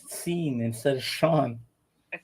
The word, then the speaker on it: Sean: it exceeded theirs you realize you pronounced Sean's name wrong you said scene same same thing you call him seen Sean no you said Sean Lennon you said seen instead of Shan I said Sean and then um I'm serious